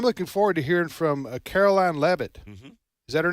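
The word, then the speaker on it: Karoline Leavitt: heard I'm I'm looking forward to hearing from Caroline levit is that her name yes that's exactly how you pronounce she's 27 years old and she's uh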